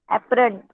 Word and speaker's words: apparent: We consider the apparent north-south movement ॲपरमेंट of नहीं the है वो. Weight minute. ॲपरमेंट नहीं है. स्पेलिंग देखिए. ॲपरंट है. ॲपरंट. apparent.